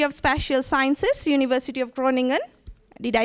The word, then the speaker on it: Groningen: at the Faculty of special Sciences University of Groningen did I say it right Steven Froning him can you hear me yes yes okay yeah it's University of Groningen in the Netherlands he is his PhD focuses